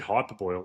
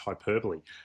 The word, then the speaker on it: hyperbole: Tubes, the reason I said hyperboil is I believe it's pronounced hyperbole, which is I'm just very happy to hear that your player name is pronunciation.